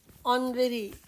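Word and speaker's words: honorary: next one he received ऑनरेरी degree ऑनरेरी एक बार फिर से एट साइलेंट तो सेंटेंस में आएगा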